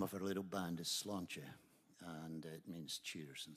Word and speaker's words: Sláinte: it's the name of her little band is slancha and it means cheers and skull good health